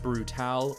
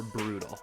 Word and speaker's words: Brutaal: His allies are Darkseid, Desaad, and the Hunger Dogs, and his enemies are the Justice League and Brutal, or Brutal, however you want to pronounce it. Brutaal.